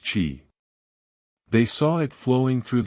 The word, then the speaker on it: qi: They called this life force qi, pronounced qi.